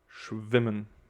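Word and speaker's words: schwimmen: 2m together women okay it's still a short m but the accentuation is also on that we got sh and schwemen all right and the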